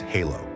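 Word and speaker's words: halló: or daughter daughter 13 in Icelandic hello is pronounced Halo thank you is talk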